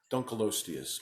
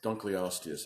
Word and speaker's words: Dunkleosteus: seldom did you come across an animal called Dunkleosteus or Dunkleosteus I've heard of pronounce three or four different ways this is